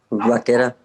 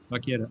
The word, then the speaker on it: Vaquera: Vaquera. I think I mispronounced that last name. How do you pronounce your last name, sir? Vaquera. Vaquera.